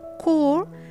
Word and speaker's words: corps: The words in the rest of the list are originally French, so they kept their first original pronunciation after being introduced to English. We say corps to mean an army unit.